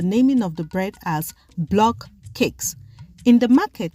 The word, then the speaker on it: BlockCakes: In the market, consumers call the bread based on their own phonetics, hence the reason why the bread has multiple pronunciation and spelling, some of which are Blockade, Blockate, Blockate, Blockade. Hence, the real name for this bread is BlockCakes, little cakes formed in